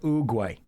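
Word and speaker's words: Oogway: Master Ugay from Kung Fu Panda. The wisest of us all. Sounds just like it is spelled.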